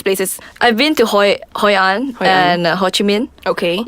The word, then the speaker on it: Hoi An: to visit in Vietnam according to travelers is Hoi An I don't know if I'm pronouncing that right yeah you're right oh she's